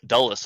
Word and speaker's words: Dulles: How do you pronounce that? Dulles? Dulles, I think.